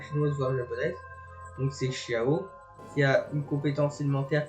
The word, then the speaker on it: Xiao: Et donc le X ça se prononce CH. Je sais que c'est un petit peu compliqué la langue chinoise voire japonaise. Donc c'est Xiao qui a une compétence